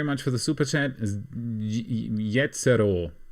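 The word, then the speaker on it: Jezero: Jetzero, just like you'd pronounce it in German.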